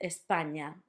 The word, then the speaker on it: España: now, just remember that the ñ sound is basically the sound in your English lasagna. So, lasagna, for example, we say the main word that we have in with that ñ is España, which is Spain in English.